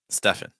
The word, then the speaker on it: Stefan: Stefan. Like Stephen Curry. Curry. Or Steph Curry.